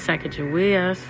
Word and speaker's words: Sacagawea: Separating fact from legend and Sacagawea's life is difficult. Historians disagree on the dates of her birth and death, and even on her name. And Hadatasha Sacagawea, pronounced with a hard G, translates to bird woman.